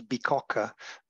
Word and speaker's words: Bicocca: Actually, the right name is Bicocca. It might sound difficult to be pronounced, but it's the name of an old